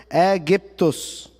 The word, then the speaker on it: Aegyptos: The Greeks, then the Romans after them, pronounced it Aegyptos.